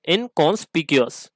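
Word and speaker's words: inconspicuous: ठीक है, इनकॉन्स्पिक्यूअस। ठीक है, तो ये जो इसका प्रोनाउंसिएशन अगर आप देखें तो पीशियस नहीं है, पिक्यूअस है।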